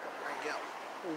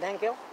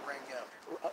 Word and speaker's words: Rangel: Rangel. Nangel? Rangel. How do you spell that? I've never heard. No. Angel with an R.